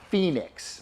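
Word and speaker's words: Phenix: I use these finesse slider weights by Phoenix. Now Phoenix is spelled P-H-E-N-I-X, finesse slider weights.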